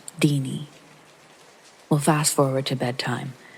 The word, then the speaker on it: Tiny: It's just what we call her, and it's pronounced Deanie.